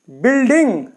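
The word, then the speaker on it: building: किस तरह से जैसे बिल्डिंग बिल्डिंग यू के बाद में कोई भी वो वाला आता है तो यू जो है वह साइलेंट हो जाता है तो यहां पर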